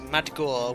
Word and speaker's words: Maggiore: down pro crazy uh maggiore is pronounced mad gore with a dg like in dodge and aryan like in red but still looking at